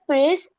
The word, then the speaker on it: pris: Elle a pris a coffee c'est machine. Elle a pris. Don't pronounce. The last one.